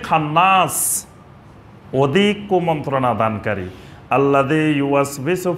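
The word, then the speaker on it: يُوَسْوِسُ: এটা উচ্চারণ করতে যায় আমাদের দেশের ম্যাক্সিমাম মানুষ ভুল করে, ইউ was Bisu, issue Bisu. আমাদের দেশের অনেক লোকেরা এটা সঠিকভাবে উচ্চারণ করতে পারে না। এটা কোরআনের কিন্তু খুব কঠিন একটা শব্দ, ইউ ওয়াস বিসু। তিনটা জিনিস এখানে, ইউ ওয়াস বিসু। এটার উচ্চারণ সঠিক না হলে ইসু বিসু হয়ে যাবে।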